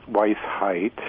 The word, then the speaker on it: Weisheit: You're going to help me with pronunciation here. Good morning, Steve. Yeah, sure. My name is Weisheit.